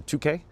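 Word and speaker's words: toque: It was just pronounced like the number two with a K. So 2K."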